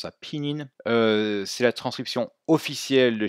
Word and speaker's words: pinyin: Donc pour pallier à ce problème, on utilise une transcription phonétique, le pinyin, qui signifie en chinois épelé, on prononce ça pinyin.